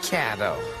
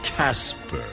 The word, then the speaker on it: Casper: You're stuck with Cato. That's Casper. Oh my god, he finally said it right.